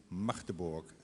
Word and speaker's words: Magdeburg: You pronounce it Magdeburg, not Magdeburg, not Magdebosch.